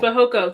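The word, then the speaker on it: Fehoko: How do you pronounce his name? For he Fahoko. for Hoko. Fahoko, just like Simi. Okay, yes. Fahoko.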